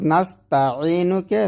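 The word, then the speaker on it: نَسْتَعِينُ: অর্থাৎ নাস্তাইনুকে নাস্তাইনু পড়া, নাস্তা বলা যাবে না, এই তাতে টান দেওয়া যাবে না।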